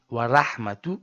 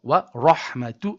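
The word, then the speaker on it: ورحمة: So, you say wa ra wa ra wa rahmatun and not wa rahmatun.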